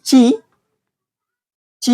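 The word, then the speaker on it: ちゃ: আচ্ছা আচ্ছা এরপরে হচ্ছে চি চি এর সাথে যদি ছোট ইয়া যোগ করা হয় তাহলে উচ্চারণ হবে চা চা চি এর সাথে ছোট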